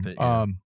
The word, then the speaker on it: Ganthet: Well, on that note, we keep talking about Guy and John and Ganthet. Gaunthet. I can't pronounce that Got that. name. Ganthet, yeah.